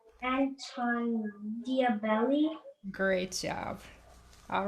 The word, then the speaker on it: Diabelli: Anton Diabelli.